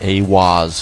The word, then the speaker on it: eihwaz: and channeled the divinity eihwaz pronounced a waz furthering the immutable connection